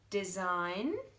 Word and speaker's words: design: can hear it again design don't hear that G do I designate designate so suddenly I can hear it okay so let's do